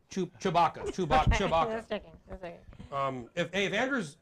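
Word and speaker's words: Tshibaka: Chewbacca.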